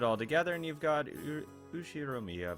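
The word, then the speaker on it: 右代宮: read it absolutely not the first part is my family name that's a very plausible Japanese pronunciation so far yeah okay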